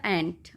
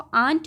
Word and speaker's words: ant: और यहां पर बच्चों यह जो वर्ड है ए एनटी this B pronounce as एंट कई बच्चे उसको आंट बोलते हैं this is नॉट आंट आंट क्या होती हैं चाची ओके तो this is the spelling ऑफ ऑ आंट ठीक है वो चाची होती है आप एंट को एंट नहीं एंट को आंट प्रोनाउंस नहीं करेंगे ठीक है एंड दिस